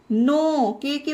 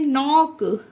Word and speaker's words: knock: ये सारे एग्जाम्पल में देखिए गाइस, ध्यान दीजिए, के बाद एन है तो के का उच्चारण नहीं होता।